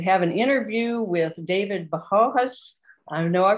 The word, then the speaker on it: Bohonos: The original Ukrainian pronunciation is Bohonos. And that means God's vessel.